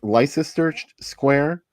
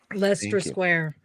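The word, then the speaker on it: Leicester Square: how do you say is it life sister Square Lester Lester Lester Square huh do you go there often Jen I was just there the other day what did you do in Lester Square what did I do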